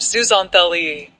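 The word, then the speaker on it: zooxanthellae: A best friend forever deal with microscopic algae called zoazanthi pronounced zuzanthi.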